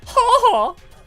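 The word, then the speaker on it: 母: Kaga saying mama, but apparently in Japanese mama is said like haha or something like that. Like that's a way to say mother is like haha.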